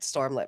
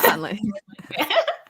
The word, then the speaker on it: Sunlit: me when I read Stormlit Man, though. Because literally, yeah. Sunlit. What did I say? Did I say it wrong? You said Stormlit.